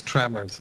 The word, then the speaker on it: Tremor: For Ben, the correct pronunciation is tremors. It's Yep. always plural.